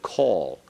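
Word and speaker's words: כל: it's the comets hatuf said call like k-o-l like the O and God not the O in whole okay okay practice that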